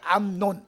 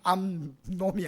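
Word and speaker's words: 암논: 노나 이 발음을 자린데 암 논 암놈이 아니고 논 안 넣은 이고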